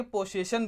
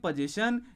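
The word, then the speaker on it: possession: अब कुछ बच्चे गलती ये करते हैं कि इसको पोजेशन ना बोल के पोसेशन बोल देते हैं। तो प्यारे बच्चों, ये प्रोनाउंसिएशन गलत होता है। इसको हम लोग पढ़ते हैं पोजेशन।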